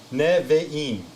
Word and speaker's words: Nevi'im: And when you again pronounce it, remember, consonant, syllable, consonant, syllable, consonant, syllable. Unless it's a closed syllable, consonant, syllable, consonant. Here we got consonant, syllable, and here you got a consonant, syllable, consonant. Neve'im.